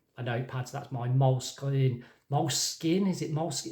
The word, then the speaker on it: Moleskine: I still really like a notepad, so that's my moleskin. Moleskin, is it moleskin? It's not moleskin as in the skin of a mole. Let's be clear on that. I think it's pronounced moleskine, I think.